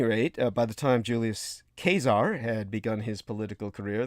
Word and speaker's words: Caesar: and by the way, the correct pronunciation in the Latin is Caesar, just so people know, and it is from where we get... In Latin, it's Caesar? Yes, in Latin it is Caesar.